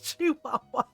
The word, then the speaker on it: Chihuahua: I forgot she tried to pronounce it, but I I go ins as I told it's Chihuahua.